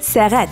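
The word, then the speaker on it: сәгать: Ты же знаешь, что это слово пишется как сягат, но произносится как сагат.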